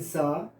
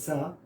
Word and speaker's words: sour: Fourth one, a germ which had turned their wine sour S-O-U-R is pronounced as sa, not so.